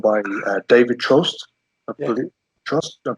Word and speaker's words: Trost: I believe Trost. Did I pronounce that right? Yeah, toast with the guttural R, toast.